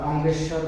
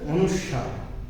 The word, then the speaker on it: অনুস্বার: করতে হবে অনুস্বার আমরা অঙ্গেস্বর বলি বা অঙ্গেশ্বর বলি অনুস্বার বলি কিন্তু আমাদের উচ্চারণ করতে হবে অনুস্বার ঠিক আছে তারপরের বর্ণ